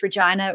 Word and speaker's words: Regina: from a place called Regina. And yes, Regina rhymes with vagina, so it was destiny. But I'm from a place called Regina, and I went to